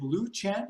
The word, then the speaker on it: Lucian: very really nasty villain is it Lucian is that how you say it yeah yeah he's calm but